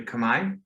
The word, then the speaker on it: Khmer: A lot of people say Khmer, but it's actually Khmer. It's just that the R consonant at the end is silent.